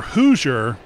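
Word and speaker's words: Hoosier: trick with us is we're hoer which sounds like h o o s i e r but we're hilarious so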